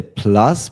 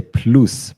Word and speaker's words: plus: uh in this case in German we say U not a like in English you would say plus but in German you say plus plus plus yes and the same